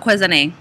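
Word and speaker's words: Quvenzhané: It looks like Kuvanzane. So it's probably Kwezane.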